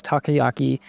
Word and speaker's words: takoyaki: Each bite has the same savory and sweet flavor as takoyaki, but with an airy, light, crispy texture. Oh, it also gives you the pronunciation takoyaki, so I'm actually not terrible.